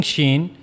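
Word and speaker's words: شين: So for pronouncing shen you have to use the middle of the tongue. This is the middle of the tongue and it will meet to the root roof of the mouth.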